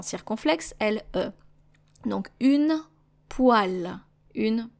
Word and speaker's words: poêle: Donc une poêle. Une poêle. Some people will pronounce it poêle, actually, but I personally have heard it being pronounced more as poêle instead of poêle.